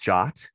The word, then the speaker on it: JWT: for json web token it actually is pronounced jot as per the specification it is a standard